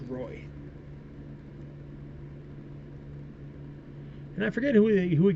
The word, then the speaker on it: Roy: And then Derek Roy, or Wah, but usually, I believe, if I remember right, he wanted his name pronounced Roy.